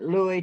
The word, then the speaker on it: Lewis: people how do you pre how do you pronounce it mama always said louis toybo yeah well they still called him louie